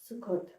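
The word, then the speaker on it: Sukkot: Say it in Hebrew. Um sukot. Sukot. That's how we say it.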